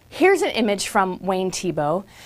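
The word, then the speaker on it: Thiebaud: b a u d French name and it's pronounced tibo now Wayne TBO is still alive today he lives in San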